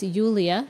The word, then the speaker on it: Yulia: My understanding now is it sounds like Julia, but it does have the Y. So it's Yulia.